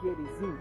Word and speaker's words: Gerizim: a adorar no monte Gerizim ou Gerizim como eu prefiro pronunciar porque o hebraico ele não tem essa pronúncia do jot já Jorge por exemplo não é bálsamo de gilear seria gilear não eico R nunca J é esse J é algo mais moderno da idade média eu acho para cá